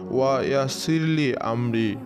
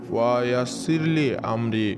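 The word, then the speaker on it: وَيَسِّرْ لِي أَمْرِي: আপনারা ভিডিও স্ক্রিনের উপরে দেখতে পাচ্ছেন পবিত্র কোরআনের সূরা তহার 26 নম্বর আয়াতের একটি অংশ, এটির উচ্চারণ হবে ওয়া ইয়াসিরলি আমরি, ওয়া ইয়াসিরলি আমরি।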